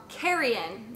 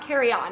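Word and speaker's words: carrion: animals and dead meat oh I've been saying it wrong carrying not carry on not not carry on suitcase surely decaying flesh of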